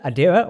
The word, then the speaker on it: Adira: The non-binary character, Adira, or Adria as I keep accidentally pronouncing it, is played by Blu